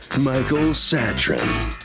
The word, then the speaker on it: Satrin: Is that how yes, I Your pronounce Honor. Yes, it's perfect. Satrin.